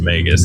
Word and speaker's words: Magus: that's how I know for sure that it's pronounced magus cuz Lauren looked it up.